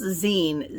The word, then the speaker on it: zine: the 4th it says it's going to be pronounced zine z-e-e-n zinfare and i think